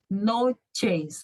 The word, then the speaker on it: noches: espanhol se fala assim Buenas noches o ch tem som de ti Sempre vocês vão falar notícias